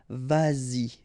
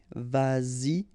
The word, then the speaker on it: vas-y: Same thing here, vas-y, vas-y, all right?